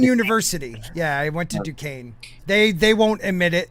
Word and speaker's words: Duquesne: yeah i went to duquesne they they won't admit it but i did go i did go they spell that really weird by the way duquesne yes yeah duquesne yes